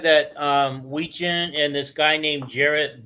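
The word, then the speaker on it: Wetjen: Oh, Weechin, like a gin.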